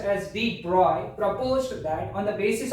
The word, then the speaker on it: de Broglie: इन 1924 Prince Louis डी ब्रोगली, pronounced as D. Broglie, proposed that on the basis of symmetry existing